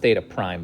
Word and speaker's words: theta prime: That notation is pronounced theta prime, by the way.